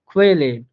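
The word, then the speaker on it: Qualle: যে উদাহরণ দেখেন, এখানে উচ্চারণটা হবে, প্রথম যে উদাহরণটা এটার উচ্চারণ হবে খুয়েলে, খুয়েলে, অর্থাৎ হালকা কেবি এর মতো করে উচ্চারণ আসতেছে এই ওয়ার্ডটাতে।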